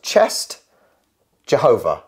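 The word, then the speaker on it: Częstochowa: um it's not bad that's not bad so I've got on here the two words chest Jehovah like Jehovah Witness so if you merge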